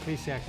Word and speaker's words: Plesac: Jose Arguidi, I believe is the way he pronounces it. Zach Plesac, I know that's the way he pronounces it.